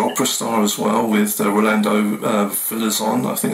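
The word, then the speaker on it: Rolando Villazón: You had the pop star to opera star as well with Rolando Villazon, I think it's the right pronunciation.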